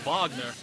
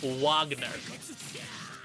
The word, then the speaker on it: Wagner: ] who call Wald wal and who call Vagner Wagner just saying just saying yeah I'm surprised more